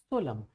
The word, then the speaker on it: solemn: And the another word is solemn. This is solemn. N is silent.